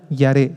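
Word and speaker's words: יָרֵא: es la misma palabra yaré yaré y a r e con acento en la e y esta misma esta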